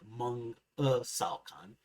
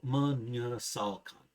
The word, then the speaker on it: menyesalkan: Menyesalkan sounded like mengesalkan instead of the actual menyesalkan, and so on.